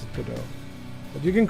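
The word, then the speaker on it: Godot: that's why it's called that that's why you pronounce it good do but you can call it could go do if you want to everyone knows what you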